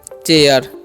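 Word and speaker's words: chair: से समझिए ठीक है तो सीच से तो होता है च पढ़ दिए ए आई रगा तो उस एकले अब देखिए एक ए आई आर से क्या होता है एयर होता है इसलिए हम क्या पढ़ेंगे इसे चेयर ठीक है और चेयर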